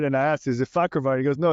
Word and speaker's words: Fakhravar: And that's why we invited Amir Fakhravar on the show. Amir, welcome to the show. Thank you for having me, and thank you for pronouncing my last name perfect.